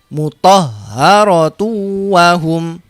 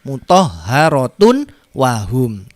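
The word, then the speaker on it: مطهرة وهم: Bacanya mutahharatu wahum. Mutahharatu wahum. Tidak dibaca mutahharatun wahum, tapi dimasukkan tunnya ini, dhamma tanwinnya masuk ke wawu. Jadi di sini dibaca dhamma biasa, dimasukkan ke sini.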